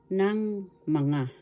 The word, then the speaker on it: ng mga: have two tagalog pananda o markers it is ng mga this is how is pronounced bigkas ng tagalog ng mga ng mga